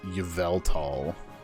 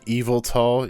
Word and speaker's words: Yveltal: I suppose it does go YVEL, so it's like Yveltal. Council recognizes that you're correct, but the council thinks that this is a dumb as shit decision. That's just adding syllables for syllables' sake.